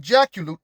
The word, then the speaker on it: Jacolliot: Unlike Jaculut, that's spelled Jacolliot, Saint claimed that Argatha was still in existence underground, having moved there at the beginning of Kali Yuga.